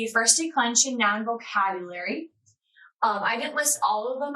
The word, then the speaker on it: gloriae: So that AE sound, by the way, when we pronounce that, we say I. So it's not something else, is gloria, glory, I. That's how you'd say that.